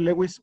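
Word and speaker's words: Lewis: italiano otra cosa entonces le podemos decir leis o Luis ambas son correctas entonces este señor Gilbert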